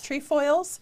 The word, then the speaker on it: Trefoils: Trefoils. Trefoils.